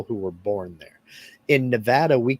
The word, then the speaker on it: Nevada: tended to call it Nevada it's not no it's Nevada rhymes with Savannah do you ever think